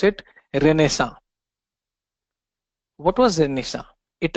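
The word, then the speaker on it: Renaissance: happened that that something is known as a renessa this is how you pronounce it a renessa what was the initial it refers to a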